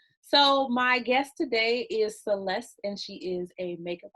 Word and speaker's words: Celese: There's no T, but it's pronounced Celeste.